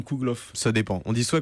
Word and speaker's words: Kougelhopf: google vous enfin bref la dernière syllabe se prononce plus que la première dans kougelhopf ce dépend ont dit